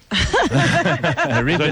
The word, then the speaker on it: Robin: Ribbon, the French Robin. way. That's the French pronunciation.